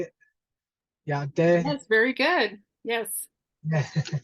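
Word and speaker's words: Yá'át'ééh: Yate.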